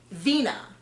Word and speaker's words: Veena: india veena and now janae veena with a v he says it with a b well subtitles say it with a v so i'm going to trust the subtitles what kind of pronunciation buddy i thought it was bina as well but then the next week they said vina anyway india's been pretty